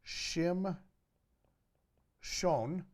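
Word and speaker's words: שמשון: word for son so he in Hebrew you will pronounce Samson Shem shown and you pronounce son shemesh okay now you don't have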